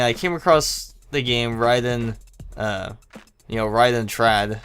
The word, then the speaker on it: Raiden: em up games was raiden trad it's actually pronounced ryden trad but sometimes i say it as raiden because you know in japan it's like it's